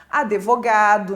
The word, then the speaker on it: advogado: já deve ter ouvido pessoas falarem palavras como advogado né colocando um e depois do d ã seje no lugar